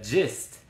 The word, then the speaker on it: gist: Se escribe con G, pero se pronuncia como con esta G. The gist.